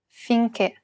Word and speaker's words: finché: The other accent is the acute accent, and it's used to indicate that we should pronounce it as a closed E. Perché, finché.